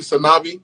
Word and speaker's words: Sanavi: Sanavi. Am I pronouncing it correctly? Sanavi? Yeah, you saying it right. Okay. Ooh, that cool. sounds like C'est la vie.